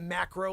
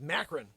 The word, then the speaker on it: Macron: weezy mcgee no it's not macro like when you take photography it's macron macron what do we say